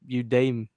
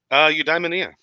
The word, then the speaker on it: Eudaimonia: Yeah, Udame. I'm sorry. You. How do you say it again? Eudaimonia.